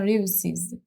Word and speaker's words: réussissent: Il, elle réussissent. So here is a double S all the way. So S, there's no Z.